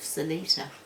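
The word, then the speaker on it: Seletar: in Singapore whereabouts RAF Salita it's spelled s-e-l-e-t-a-r ight Force Base Salita and um I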